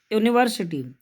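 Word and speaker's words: university: देखो this is यूनिवर्सिटी। अब यूनिवर्सिटी में यू तो पहले आया है ना, लेकिन इसका उच्चारण शुरू हो रहा है ये से।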